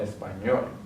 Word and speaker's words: español: The next one, español, ends with a consonant, so we're going to add the stress on the last syllable, español.